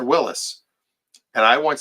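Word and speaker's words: Willys: you pronounce that word that's Willies no is it Willis it's Willis what you talking about Willis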